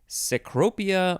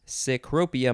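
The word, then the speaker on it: cecropia: adverb and ceaselessness is a noun next is secropia moth sycropia moth yes two words sacropia is spelled c c-e-c-r-o-p-i-a noun from 1885 a large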